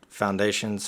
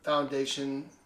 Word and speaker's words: Foundation: right now yes found foundations Physicians Group Foundation phys Physicians Group Foundation Physicians Group not foundations it's just Foundation no s is it point up